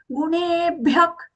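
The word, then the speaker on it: गुणेभ्यः: Gunebhyak, gunebhyak. Here the visarga is being pronounced as kha sound. Kha, just as though you're correcting your throat.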